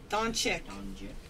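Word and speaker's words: Dončić: Donkic. Dukic. Whatever. Donkic? How do you say his name? Doncic. Doncic.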